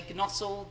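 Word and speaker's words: Gnosall: one i don't know how to pronounce this i'm afraid it's spelt g n o s a double l i'm going to say g nozzle gp surgery and staffordshire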